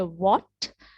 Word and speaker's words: what: an example what right so when we say what we do not specifically pronounce the letter h right right so we